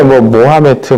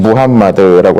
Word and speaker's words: 무함마드: 원래 모하메트, 마호메트 이런 이름들로 많이들 부르는데 원래 이 사람의 이름을 가장 그 지역 발음에 따라서 부르면 무함마드라고 할 수가 있죠.